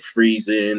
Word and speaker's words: Frison: Jenny Frison it's just her name looks like the word prison except with F instead of a P so I would figure if I would be pronounced frizzen instead of fries in and fries and like everybody saying so I just use